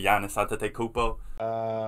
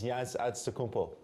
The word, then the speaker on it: Giannis Antetokounmpo: And no one could really say his name the right way. Giannis Antetokounmpo. It's Giannis Antetokounmpo.